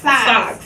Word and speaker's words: Saux: say it well um because I'm part of a social club they call me socks socks yeah that's how it's pronounced yeah but it's the German way that you spell it s x yes what it's pronounced socks so oh want to say